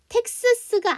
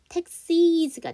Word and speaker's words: taxes: 텍스스가 아니죠. 스즈 발음에 S가 붙게 되면 스스즈즈가 아니라 이즈가 돼야 되죠. 그래서 텍시즈가 돼야 되죠.